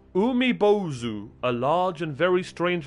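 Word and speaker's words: 海坊主: oh oh there it is chat among us pronounced umibozu a large and very strange looking yokai that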